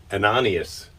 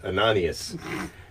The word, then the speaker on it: Ananias: in damascus uh of jesus called uh an anonymous not anonymous ananias and i'm not going to look and make